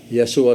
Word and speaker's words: Yeshua: Yeshua sa Hebro. Yeshua sa Aramaic. Kanang Yeshua, makapantay ka na is, first syllable is Y-A-H, Yah. That is derived from Yahweh.